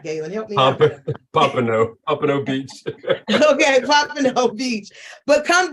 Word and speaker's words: Pompano Beach: Pompano Beach.